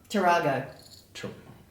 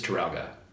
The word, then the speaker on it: Taralga: mispronouncing it isn't it tarago I keep mispronouncing it um where did I write it I think it's taralga yeah yeah taralgo taralga